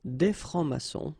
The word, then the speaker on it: des francs-maçons: Un franc-maçon, okay, un franc-maçon, and then plural form, exactly the same rule, S here and S here, des francs-maçons, and then you don't pronounce them, des francs-maçons.